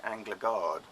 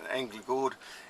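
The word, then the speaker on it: Änglagård: people mispronounce as being anger guard because they're not pronouncing the Swedish letters here angry bored it really sort of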